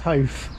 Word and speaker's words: Howth: Noah, it's going to Half, isn't it? Yeah, they alternate. You can see on the timetable there, it's Malahide next, then another Hope, and then Malahide. Going to Half. I know it's pronounced Hof.